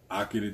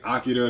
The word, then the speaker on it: Akira: fire, Akira t-shirt. Super fire. And yes, I'm saying Akira because if you watch the movie, that's how he pronounces it. It's not Akira, which is the American way. It's Akira.